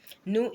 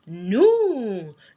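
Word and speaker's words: nous: new means we right new is n o u s the S is not pronounced that is why it is new no no now the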